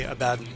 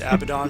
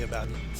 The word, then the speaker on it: Abaddon: And just a small aside, it's actually Abaddon. But don't worry, okay. I've pronounced it Abaddon for ages too, but it was pointed out to me and confirmed that it's actually Abaddon.